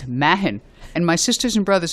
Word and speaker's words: Mahan: let's go back to the pronunciation of my name it's Mahin and my sisters and